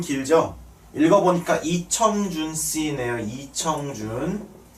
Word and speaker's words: 이청준: 읽어보니까 이청준 씨네요. 이청준. 춘이라고 읽지 마세요. 청준이십니다. 청준.